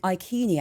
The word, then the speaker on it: Iceni: Well, Prasutagus, the king of the Iceni. Now, we think they might be called the Iceni, actually. It could be a hard C there. So right.